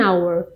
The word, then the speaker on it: hour: Então, é um som como se fosse só começando pela letra O, vogal, por isso que é an hour.